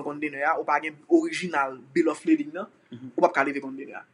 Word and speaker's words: bill of lading: terme ça en pile moun kon mal prononcer yo dit bill of loading c'est lading LADING OK bill of lading nan son document et